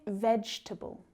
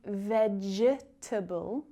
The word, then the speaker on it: vegetable: Try vegetable. So can you see where that silent E is? You don't hear me say veg-etable, just vegetable.